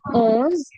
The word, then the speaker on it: onze: 11 is owns. Okay, listen to the pronunciation. It is owns. Okay, o, not on.